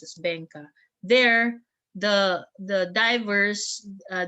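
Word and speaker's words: Beqa: in bay it's called bangkok b-e-q-a but it's pronounced as bangka there the the divers uh there there's a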